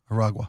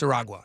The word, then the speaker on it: Aragua: Is it Aua or Ara? Aragua. I think it's Aragua.